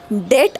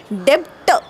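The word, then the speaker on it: debt: spelling झालं डी बीटी पण सामान्य माणसाने बी कधी उच्चारलच नाही म्हणून आजही तो शब्द डेट आहे डेप्ट नाही ओके तो बी तिथे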